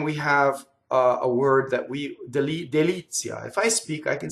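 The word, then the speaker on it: delizia: Now, when I sing, I have to do the t as almost as a semivowel. So it's like this. Deli-zia. Very gracefully. Not deli-zia. See where the TZ goes? Deli-zia. It goes on the second syllable, right?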